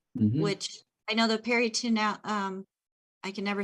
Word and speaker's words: peritoneal: which I know the peritoneal, I can never say it right. They want the Neil. peritoneal.